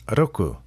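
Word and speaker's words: 六: how to pronounce that it's not pronounced like the r in American English it's more like an l and a d mixed together oku kind of like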